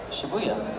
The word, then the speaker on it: Shibuya: Shibuya.